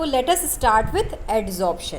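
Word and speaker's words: adsorption: We will study एड्जॉर्प्शन। आई एम not pronouncing एब्जॉर्प्शन। मैं एब्जॉर्प्शन नहीं बोल रही हूँ, मैं बी नहीं बोल रही, मैं डी बोल रही हूँ।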